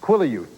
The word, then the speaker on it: Quileute: It's pronounced Seattle. No. No, it's not. It's Quileute.